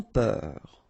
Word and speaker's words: peur: Sans peur. Okay, pronounce the final R, E-U-R, heure, peur.